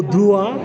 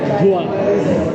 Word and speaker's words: doigt: How do you write doigt? Le doigt. Le doigt. Okay. Le doigt. How do you write E-S B-O C I-G-T-S. Yes! What do Why? You only pronounce 3 letters.